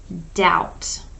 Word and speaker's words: doubt: on in your life doubt doubt when you say that word to yourself you're going to notice that that B is silent if you doubt something